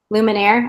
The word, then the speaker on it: luminaire: lumen is it luminary is this the word luminaire luminaire okay yeah like the band okay so this is